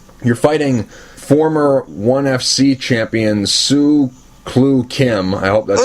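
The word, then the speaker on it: Soo Chul Kim: to get there you're fighting former 1fc Champion Sue clue Kim I hope that's how you say his name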